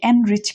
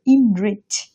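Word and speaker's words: enrich: ইনরিচ অর্থ সমৃদ্ধ করা আমরা এটাকে অনেকে এনরিচ প্রোনাউন্স করি এটার উচ্চারণ হবে ইনরিচ ইনরিচ অর্থ সমৃদ্ধ করা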